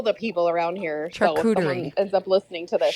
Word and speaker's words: charcuterie: and they need to eat the charcuterie boards the people around here call them charcucci boards because they don't know how to say it but it's fine